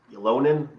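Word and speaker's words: Ylönen: I'm really, a lot of people say Jesse, I think it's Ylonen is how you pronounce it.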